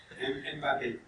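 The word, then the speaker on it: Mbappé: I'm going to query for How do you pronounce that? Mbappe.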